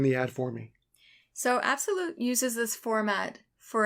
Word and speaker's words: Absolut: So for those of you who are not familiar, Absolute is spelled A-B-S-O-L-U-T. There's no E. So Absolute.